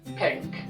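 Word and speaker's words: pinc: pink, Pink. with a C, not a K, and glas golau.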